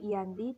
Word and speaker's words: Giyanti: penandatanganan perjanjian yaitu di desa Janti atau Yanti dalam lafal Belanda dan Giyanti dalam ejaan Belanda sekarang tempat ini dikenal